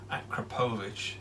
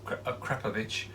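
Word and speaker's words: Akrapovič: on today this akrapovic apparently i was saying it wrong i was saying acropolis it's krepovich this beautiful carbon and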